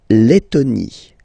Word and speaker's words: Lettonie: So remember when you get this E and then a double letter like that, T, T, okay, then you will have to open your E and it will become E, le, Lettonie. La Lettonie.